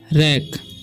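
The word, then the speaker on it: wreck: उसी तरीके से यहाँ पर भी W साइलेंट है, इसे पढ़ते हैं हम रैक।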